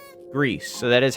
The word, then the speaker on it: Gris: I would pronounce it as Gris. So, like, even if we were going the GIF angle, I still wouldn't want to pronounce it the way that other people pronounce it.